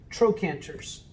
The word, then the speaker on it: trochanters: that are called trochanters it's spelled with a ch but it's pronounced like a k trochanters there's a hard ridge